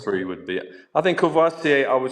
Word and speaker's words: Courvoisier: And the other big brand is Courvoisier, or how I don't know how you pronounce it. Courvoisier, yeah.